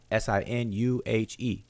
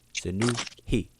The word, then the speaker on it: Sinuhe: That's how it's spelled. S-I-N-H, Sinu, S-I-N-U-H-E. Sinuhe, or Sinuhe.